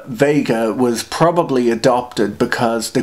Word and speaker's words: Vega: at all the name Vega was probably adopted because the Greek letter nu looks a lot like the Latin letter V and Vega rhymes with the American pronunciation of beta and theta and so so it